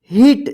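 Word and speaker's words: heat: एच ई ए टी, इसको क्या पढ़ेंगे? हीट। देखिए ई ए जो है ना एक साथ है तो ई उच्चारण होगा, ठीक है।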